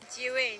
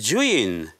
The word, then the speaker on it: Zhiyun: How to pronounce Zhiyun? How? Zhiyun. So this is the correct pronunciation. Zhiyun.